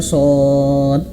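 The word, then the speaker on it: ص: Cara bacanya seperti ini. Shad. Nah, jadi di belakangnya itu ada huruf dal. Nah, huruf dal yang qalqalah shad. Nah, berapa harakat? Berapa panjangnya? Ya, ini warna ungu. Enam harakat.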